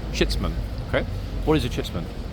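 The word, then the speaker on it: chitsman: is a chits man okay uh let me spell it c h i TS m a n shitman shitman okay what is a chitman good question in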